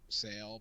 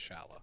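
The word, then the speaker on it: Šalé: I am always tempted to say Sale, but I think it's Shala. Yeah, it's definitely Shala, because I heard like the commentary during these games say his name, and I'm like, okay, it's not Sale.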